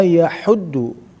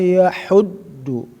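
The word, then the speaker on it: يحض: Wala yahuddu, bukan wala yahuddu ya, hati-hati ya di huruf-huruf yang sedikit-sedikit ada satu kemiripan pengucapan ha, pengucapan ha. Jadi harus betul-betul diperhatikan. Wala yahuddu, huruf do ya. Jangan sampai tertukar dengan huruf da ya.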